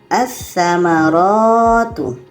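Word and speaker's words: الثمرات: Jadi lam ini tidak kita baca menjadi bacanya assamaratu. Assamaratu lamnya tidak kita baca karena tsa ini adalah huruf alif lam syamsiyah.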